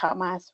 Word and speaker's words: Hamas: And colonial feminism depicts Palestinian women as helpless victims in need of saving from Hamas or I guess I should say kamas, right, which is um the Hebrew pronunciation of Hamas.